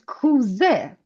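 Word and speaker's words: کوزه: Okay, so the last word from this group is kuze. Kuze. Kuze. Do you see Kuze. kuze? Ze and e. Kuze. Kuze.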